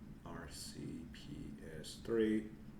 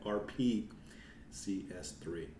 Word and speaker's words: RPCS3: go to application and R cps3 RP I've been saying it wrong all time RP CS3 okay uh what how